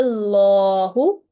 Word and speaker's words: Allah: carrying a dhamma stroke, then the word Allah will be pronounced in thick and heavy sound. So here, how we will read this example, Qala Allahu in a thick and broad sound.